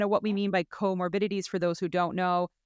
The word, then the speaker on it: comorbidities: of me and I I always call it coor morili but it's comorbidities so we're going to talk about PCOS comorbidities and bariatric surgery together um and kind of what we mean by comorbidities for those who don't know um comorbidities are